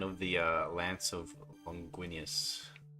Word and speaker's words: Longinus: I'll do a little pattern of the uh lance of Longuinius. How do you pronounce it? Longinus. Longinus.